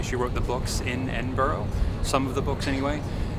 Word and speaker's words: Edinburgh: how they spell it, it looks like Edinburg. It does to our American, but it's not. It's Edinburgh. Edinburgh. Edinburgh. They say it really fast and low. Edinburgh.